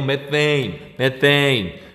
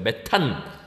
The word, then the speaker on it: 메테인: 한 5년 전, 6년 전까지만 해도 이걸 그냥 메탄이라고 읽었어요. 메탄. 6년이 뭐야? 좀 더 전. 이거 메탄. 근데 우리가 그 이후에 이제 교육과정 개정되면서 미국식으로 그냥 읽자. 그래서 메테인이라고 읽는 거죠.